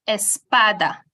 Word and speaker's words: Espada: um which is Espada the word is pronounced Espada now if I am to snap my finger on the syllable that has a stress which is the second to last one you realize that there